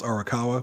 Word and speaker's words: Arakawa: I know how to pronounce Arakawa because that's the name of the antagonist from Like a Dragon.